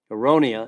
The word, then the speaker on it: aronia: aonia berry that might be new to you aronia is spelled a like apple R like Robert o